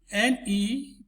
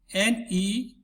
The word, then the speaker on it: Nephridia: Let me spell it. Nephridia. I'll come again. Nephridia.